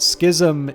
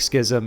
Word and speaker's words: schism: So it does seem to be that schism is the appropriate pronunciation. And it's, if you go to sort of its Greek origins, it does feel like schism is more consistent with the, with the origins.